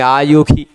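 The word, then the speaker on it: आयुषि: मानस्तो के तनये मान आयुषी, वहाँ आयुषी नहीं कहेंगे, आयुखी, गोखु मानो अश्वेखु रीरिखः ऐसा बोलते हैं वहाँ। ठीक, वहाँ श स्वरवर्ण के बाद श आता है तो उसका ख के रूप में उच्चारण करते हैं, ऐसा नियम है।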